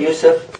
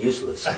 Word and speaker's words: Yusuf: Can you say Yusuf? Yusuf. No, they said it right. How come you keep saying useless?